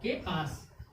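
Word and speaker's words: chaos: इसमें सी के बाद क्या आ गया? एच आ गया। एच क्या हो गया? साइलेंट। CAOS, केआस, केआस।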